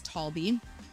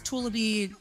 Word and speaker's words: Talby: Behind her is Talby. Talby has many nicknames. When delivery drivers come in, it's Tulabi, Tululama. I mean, like, nobody can pronounce her name correctly.